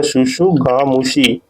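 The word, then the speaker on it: tsutsugamushi: कौन सा बैक्टीरिया है आपका, ओरिएंटा शुशु, ये प्रोनाउंसिएशन देख लीजिएगा, शुशुगामुशी, जो कि TU शुशुगामुशी जो है कि ये बैक्टीरियम का नाम है।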